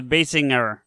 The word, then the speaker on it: Basinger: Is it Basinger? I've always thought the second. Basinger? Yeah, but with a little bit of a you emphasize the ing, so Basinger.